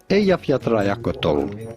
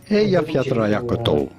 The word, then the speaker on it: Eyjafjallajökull: Eyjafjallajökull. It's actually way easier than you think. Let's have a look at how it would be spelled if we would spell it phonetically in English. Eyjafjallajökull, right?